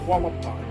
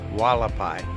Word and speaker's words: Hualapai: Hualapai. Hualapai. Yeah, you'd think it would be spelled with a W, but it's It's spelled with an H.